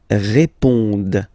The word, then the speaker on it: répondent: Ils répondent. So same thing here, classic ending, ENT, but then you don't pronounce it.